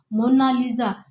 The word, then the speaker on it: Mona Lisa: मोना लीजा कहता है लेकिन इटालियन मिर्ची correct pronunciation of मोना लीजा इसका मतलब होता है